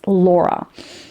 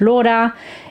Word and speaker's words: Laura: in English, and that's Laura. And my mom wasn't a fan of that, because Laura, if you pronounce it with a Spanish accent, which is Laura, it means parrot.